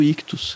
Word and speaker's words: Ichthus: Lembrando que Ictus se escreve I-C-H-T-H-U-S.